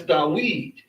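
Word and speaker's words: דוד: This is what you would need by sight to pronounce this as Dawid, because you have the Da-U-E-D, Dawid.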